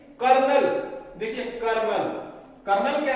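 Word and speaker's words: colonel: लिखने में तो क्या है? कोलोनेल, लेकिन इसकी जो प्रोनाउंसिएशन है वो कर्नल होगी।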